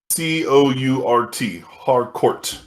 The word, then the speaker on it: Harcourt: Her character's last name is spelled HARCOURT, Hardcourt, and it's just the last name of her character.